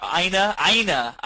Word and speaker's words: Ina: Or how Ina, that's how you say it.